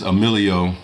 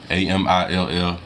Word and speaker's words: Emilio: Oh, by the way, my name is Emilio, Amillio. I know a lot of people had a hard time pronouncing the YouTube name, but it's Emilio Food Picasso, Picasso, like the artist Picasso.